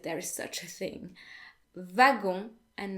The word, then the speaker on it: wagon: But what I really want to draw your attention to here is that W is actually pronounced as if it were a V in French.